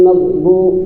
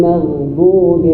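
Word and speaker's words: المغضوب: kawat kita alirkan suara ghairil magdu salah ghairil magdu apalagi ghairil magdu apalagi yang benar ghairil magdubi alaihim mengalir kenapa mengalir ir karena sifatnya dia rahawah mengalir suara yang ada di huruf ghain.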